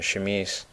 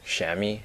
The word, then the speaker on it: chamise: I was under the impression that chamise, or chamis, or chamois, as different people pronounce it different ways, was the dominant chaparral plant of this biome, but apparently that's not what this is at all.